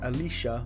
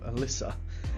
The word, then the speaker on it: Alyssa: wrong on the check like alicia instead of alyssa so it wasn't just a spelling error but also changed the sound of my name a bit i didn't notice until